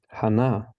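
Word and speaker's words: חַנָּה: a silent as Boaz Hana which is Hannah in in English we put the stress basically the only thing that changes is where the stress is put from English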